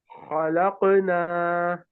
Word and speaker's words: خلقنا: أنزلنا خلقنا. خلقنا This should not be a qaf. This should not be a fatha on qaf.